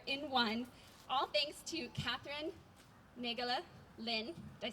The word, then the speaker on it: Katherine Naegele-Lin: And today you get trees and music together in one, all thanks to Katherine Naegele-Lin.